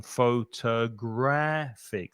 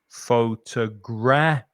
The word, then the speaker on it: photographic: So, yeah, we're changing the stress here on photographic. So we've got 4 syllables again, but this time we're stressing this one here, the 4th syllable. The third syllable. So we're saying photographic.